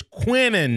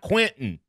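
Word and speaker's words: Quinnen: a tongue of our it's quinnon not Quinton you know coach sa still calls him Quinton too I get tickled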